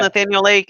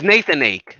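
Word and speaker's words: Nathan Aké: It's Nathan Ake. Nathan Ake, not Oh, Nathaniel.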